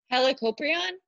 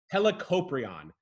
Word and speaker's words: Helicoprion: the way you said the name I always mispronounce it can you tell us this guy's name one more time helicoprion helicoprion hella copra and hella means round a world